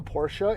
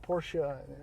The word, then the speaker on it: Porsche: on the idea of Porsche Porsche or so I discovered recently is how it should be pronounced but it's too late